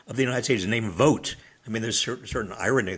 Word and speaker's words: Vought: But what's happening now, this is, Vogt at OMB and Let's Trump. Be clear. That's a person, Vought. It is Keep pronounced going.